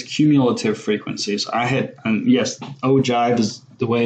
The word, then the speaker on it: ogive: graph that depicts cumulative frequencies I hit yes oh jive is the way it's pronounced not okay not oh give that's Oh judge um I never heard of